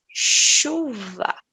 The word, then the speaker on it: chuva: fica certo o sol deste fonema é por exemplo eu vou falar chuva achar mochila cachorro certo é o mesmo fonema que vocês utiliza porém nós temos outro